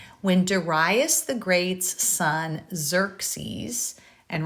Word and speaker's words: Xerxes: When Darius the Great's son Xerxes, and right here I'm just telling you how to pronounce it, so that first X is like a Z, Xerxes, became king, the Persians launched another expedition against Athens.